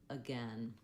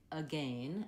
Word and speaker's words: again: American English, is that this letter A doesn't say an A, an A, or an ah. It just says the vowel schwa, the sound, because the stress is on gain. That's where we're going to have a clear vowel. That first letter A is just really short and reduced.